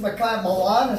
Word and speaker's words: Makiah Malan: This is Makiah Malan, is that how you say it?